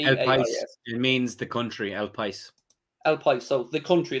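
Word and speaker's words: El País: spanish newspaper called el pa or patti hadroid pronounces p is it means the country el pais i'll play so the country there you go spanish newspaper called el pais have said the signing of darwin nunes is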